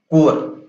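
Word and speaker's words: Corps: तो एनसीसी का full form होता है नेशनल कैडेट कोर। लिखते कॉर्प्स है बट पढ़ते कॉर्प्स है, सॉरी कोर है, ठीक है, कोर।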